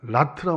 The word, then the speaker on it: rot: 그 다음에 ROT는 미국식으로 발음한다면 라트라고 합니다. 라트.